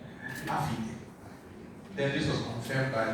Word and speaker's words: AfiDe: And he said it's like Africa, AfiDe. Then this was confirmed by the one who offered the prayer. So now I know it's AfiDe.